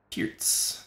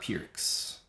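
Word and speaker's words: Pirc: Pirts. Not Pierce and not Pirks. I would say Pirts.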